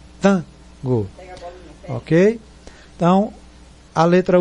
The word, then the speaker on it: Tango: E aí a pronúncia mais forte é o T-A, Tango.